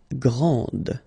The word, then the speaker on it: grand: exactly the same thing this final D is not pronounced okay so and then